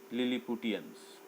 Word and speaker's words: Lilliputians: सबसे पहले हम लोग करेंगे लिल, LIL, इसको याद रखिए, लिल। फिर ली, LI ली, लिल ली। पू, PU पू, लिल ली पू। टियंस, TIANS, लिलीपुटियंस।